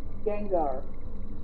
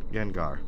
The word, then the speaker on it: Gengar: yeah yeah Gengar why did I say it name wrong Gengar Gengar anyways let's play my favorite Resident Evil 7